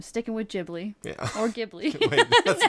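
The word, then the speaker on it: Ghibli: I'm saying that wrong I know there's multiple pronunciations but that's the one that I've been taught so I'm sticking with it yeah I jibi gibli whatever you know what we're talking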